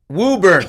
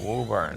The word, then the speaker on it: Woburn: Woburn. Woburn. Close. The Massachusetts people pronounced it.